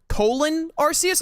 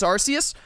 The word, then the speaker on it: Arceus: But Pokémon Legends Arceus, which I've learned is like Pokémon Legends Arceus. I always thought it was Pokémon Legends Arceus. I've been saying it wrong my entire life up until now.